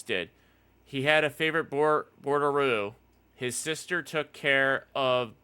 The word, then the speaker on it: Bordeaux: It's pronounced Bordeaux.